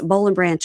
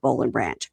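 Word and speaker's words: Boll & Branch: Now it's bowl and branch all the time at our house and we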